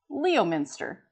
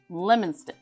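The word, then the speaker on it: Leominster: And with the way it's spelled, you would assume it's Leo Minster. If you call it Leo Minster, you will be yelled at by massoles. It's pronounced pronounce lemon. So lemon stuff.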